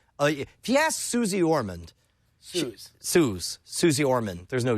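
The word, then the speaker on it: Suze: suie Susie she says suie it's suie suie Su my mom's like a huge she's like a Fang girl it's spelled s u Ze but she pronounces it Su she would devour suor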